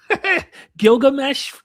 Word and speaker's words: Gilgamesh: They did not know how his name should be pronounced or spelled. And at one point, his name when you go back into the 19th century scholars, it's Eid Zudbar.